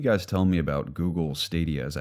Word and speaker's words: Stadia: So what can you guys tell me about Google Stadia? Is that how you pronounce it?